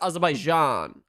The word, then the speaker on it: Azerbaijan: So, it's pronounced Azabaijan.